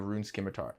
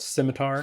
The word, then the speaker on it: scimitar: People would be all like yo Curtis where's that I need a rune skimar back when rune skimar the best the best